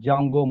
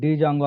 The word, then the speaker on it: Django: django is one module so d silent letter that's why we are calling like a jungo module okay if you are calling it dj jango also no problem guys so Then uh